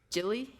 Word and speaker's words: Jilly: His parents are, oh, I forgot to ask the pronunciation of the parents. All right, I'm going to try it. Jilly? Yeah, that's right.